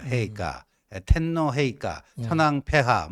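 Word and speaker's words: 陛下: 그래서 저는 뭐 일본에서 이제 유학을 했기 때문에 그런 걸 많이 봤는데 거기서 이제 폐하 일본 발음으로는 헤이카 이렇게 돼요. 헤이카.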